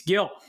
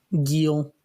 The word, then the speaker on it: Gil: I'm going to go Luis Gil. I think that's how I'm 99% sure that's how you pronounce it. Didn't they say it was Gil, which sounds like an eel with a G in the front?